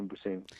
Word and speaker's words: Mbuyiseni: Thank you for having me, Dr. Mbuyiseni. And did I pronounce your name correctly? You have pronounced it correctly.